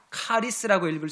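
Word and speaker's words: χάρις: 여기서 은혜라는 말을 헬라어 원어로 그대로 읽으면 카리스라고 합니다. 카리스라고 읽을 수 있습니다.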